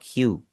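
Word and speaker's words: 九: Nine कु और क्यू दोनों कह सकते हैं। और जो सेकंड आपका लिखा हुआ है क्यू। वहां पर आपके डबल हुए हैं। तो मैं आवाज को भी डबल करूंगा। पहले वाले को देखें मैं कितना छोटा कर रहा हूं। कु दूसरे वाले को मैं लंबा कर रहा हूं क्यू।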